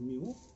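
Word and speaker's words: μ: If we want to calculate arithmetic mean of population, then mu, it is a Greek letter pronounced as mu, which is equal to sigma x upon capital N.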